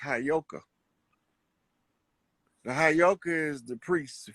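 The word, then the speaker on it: Heyoka: That word is properly pronounced Hayoka.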